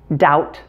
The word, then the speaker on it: doubt: all the previous ones there are three common words where the b is silent before a t and they are debt doubt and subtle and here's